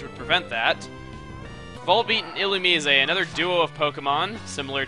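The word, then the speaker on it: Illumise: is more defensive and as for the pronunciation of il's name that's how the anime pronounce it that's why I'm saying it like that cuz everyone's like why aren't you saying it like ilumi but yeah that's why I'm saying it ilum Oddish or orish as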